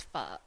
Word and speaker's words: pho: It's pho. Okay. Well, Linda says it's pho.